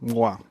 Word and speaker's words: Mgła: And they're spelled MGLA, but it's pronounced mgła, which means fog in Polish.